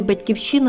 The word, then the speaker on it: Батьківщина: батьком батьком нашої нації у слові батьківщина два наголоси але пам'ятаємо Батьківщина -